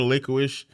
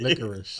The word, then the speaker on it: licorice: licorish liquorish whatever called how you say how you say it licorice okay oh licorice there you go licorice liquid licorice